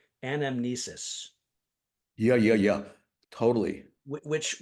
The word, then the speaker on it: anamnesis: hadn't heard before I think I'm going to pronounce it correctly anamnesis yeah yeah yeah totally which which is the